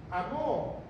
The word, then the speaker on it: amó: poner en la cruz amor con acento en la O quiere decir en pasado amor es el pasado entonces mucha gente dice